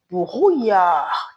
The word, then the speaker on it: brouillard: Most words in French with double L, pardon me, make the sound yi instead of So I'm not saying il y a du brouillard. No, I'm saying il y a du brouillard. Yeah.